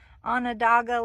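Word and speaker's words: Onondaga: It's called Anadaga Lake Park. If you want to Google it, you spell it by an on dogga.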